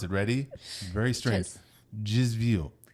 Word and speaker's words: desvio: That does not say Desvio, by the way. This is a Portuguese word. This is how you pronounce it. Ready? Very strange. Desvio. Desvio.